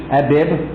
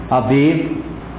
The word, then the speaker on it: Abib: The seventh month down was the month of, you can pronounce it several ways, Abib, Aviv, or Nisan. All one and the same, different pronunciations.